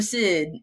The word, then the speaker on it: Syd: don't kid vote for Sid and uh of course in each of these ways I always kept kids spelled with the kyd because my name is spelled s yd and um and so a